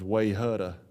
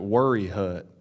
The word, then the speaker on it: Wayehutta: on a sign, they would probably try to pronounce it as Wayhutta or something, right? Well, that's not how you pronounce it. You pronounce it Worry Hut. It doesn't have any R's in it.